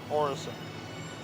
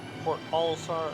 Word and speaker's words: Port Olisar: interesting same name right am i getting that name wrong orisa yeah port olisar and orrison they're connected just like the one